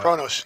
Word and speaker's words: Kronos: Uh Kronos. Yes. Yeah. Kronos. It starts with a K. I just couldn't remember how to pronounce it right. Like the clock.